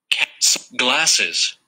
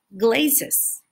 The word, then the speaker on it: glasses: tenemos una doble S. ¿Para qué? Para separar las sílabas, para que visualmente esa doble consonante te diga, aquí hay dos sílabas, entonces esta A y esta E no están trabajando juntas, cada una tiene su propio sonido. Si no, diría glazes y la E sería muda.